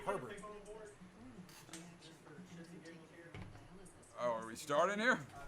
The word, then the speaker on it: Herbert: So I made the call, went with the young guy, Justin Abear, and he rocked out. They don't pronounce it like that over there. What do you mean? They should. They call it Herbert.